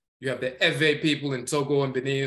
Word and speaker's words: Ewe: You have the Ewe people in Togo and Benin and so forth, and Ghana. Some of them pronounce it Ewe with the V.